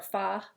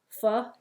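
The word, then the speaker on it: phở: It's PHO, but it's really pronounced, it's supposed to be pronounced pho, but we call it pho. Anyway, just in case anybody was wondering. My husband calls it pho.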